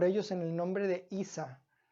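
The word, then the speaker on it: عيسى: En el nombre de Isa Isa es la pronunciación del nombre de Jesús en el idioma árabe Entonces les invitaban a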